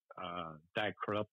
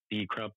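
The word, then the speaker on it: Die Krupps: Just a lot of industrial, really, Die Krups or D Krups, I think they're pronounced.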